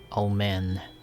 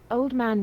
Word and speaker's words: omen: some kind of an omen. What was omen? What is omen? Old man means No. an elderly male person. What? I said omen, not old man, but it's pronounced similarly.